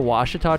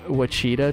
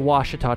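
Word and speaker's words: Ouachita: incorrect and so yeah it's the Washita Trail not the Wichita Trail cringe every time you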